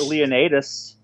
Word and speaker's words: Leonidas: I got Leonidas, which is actually how it's pronounced, you son of a bitch.